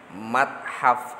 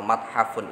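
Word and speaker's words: متحف: Ada lagi ini contohnya yang tadi, kan ini kalau ditulisannya mathafun. Kalau diucapkan mathaf itu boleh seperti itu.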